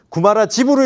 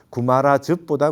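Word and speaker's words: 鳩摩羅什: 말하지 말 때 그러면 구마라 집으로 읽어야 될 겁니까 즙으로 읽어야 됩니까 구마라 10 이렇게 읽어야 되고 어느게 맞습니까 했을 때는 이거는 분명히 구마라지와라고 하는 구마라지와라고 하는 분의 이름을 음차 한 거실테니까 이게 제일 가깝지 않겠냐 집이라고 하는 바람이 제일 안 맞겠냐 그래서 구마라즙보다 구마라 집 구마라 지와라고 하는 발음이 맞지 않겠느냐 뜻보다는 발음에 입각해서 그냥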